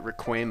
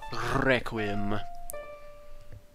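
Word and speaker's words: Requiem: back to the desert I always called it requim of spirit when I was little but now I know it's pronounced requim this is actually my favorite warp melody in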